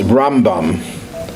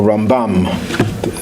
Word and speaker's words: Rambam: I can think of we refer to him as rambam or rambam depending on if you're Israeli you'll put the accent on the second syllable rambam is an acronym